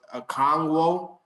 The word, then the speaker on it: Okonkwo: through Initially, I thought the pronunciation was Okonkwo, but it's Okonkwo. So I was just trying to remember which one was the right one, but it's Okonkwo. Chig, we'll just call him Chig.